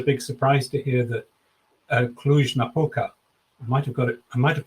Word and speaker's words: Cluj-Napoca: I think it would come as a big surprise to hear that Cluj-Napoca, I might have pronounced it correctly there.